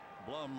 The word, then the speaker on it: Blum: Blum rhymes with glum.